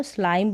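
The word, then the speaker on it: slime: पर यहां पर है अब इसको सलीम नहीं पढ़ेंगे आई का उच्चारण यहां पर लास्ट में अब है आई है तो आई का उच्चारण आई के रूप में यानी की इसका लॉन्ग प्रनंसीएशन होगा तो सलीम बिल्कुल नहीं पढ़ेंगे आई करके प्रोनाउंस करेंगे तो स्लाइम बन गया चिकनी मिट्टी उसको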